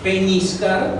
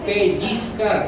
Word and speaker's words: pellizcar: Y es algo, la palabra peñiscar no existe. La palabra es pellizcar con doble L. Esa es la forma correcta. Pellizcar, que es con Z, con C, pero es con doble L, no es con Ñ.